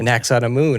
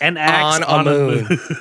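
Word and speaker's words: Anck-su-namun: An axe on a moon.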